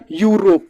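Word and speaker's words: Europe: कैसे गलत हो जाते यूरोप कैसे भाई उच्चारण होगा यूरोप देखिए य के साथ शुरुआत हो रहा है और य क्या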